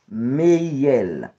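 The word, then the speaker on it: Mehiel: ange gardien qui marche à volant, li rele Meiel. Meiel, ok? Meiel s'écrit M, E, H, I, E, L.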